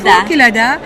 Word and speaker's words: Kelada: Alors, je vous présente sans plus tarder Madame Kelada. C'est comme ça se prononce? Exact, Kelada.